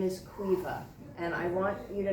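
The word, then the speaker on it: Caoimhe: she lives with her daughter whose name is Cueva and I want you to know that it's spelled c-a-o-i-m-h-e it's obviously an Irish name right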